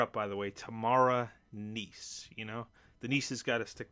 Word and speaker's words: Kneese: know the the name the k is silent in her name but anyway for this